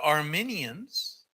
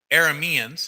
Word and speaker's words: Arameans: passing that place because the Armenians are arameans I said it wrong the arameans are going down there